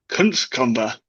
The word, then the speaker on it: Kunckova: Kunckova. Kunckova, yeah, well done. I mean, Hey, voice thanks, strange, Google. but pronunciation was good.